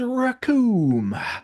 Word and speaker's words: Recoome: like WWE star okay the name is racon it rhymes with doom and you're going to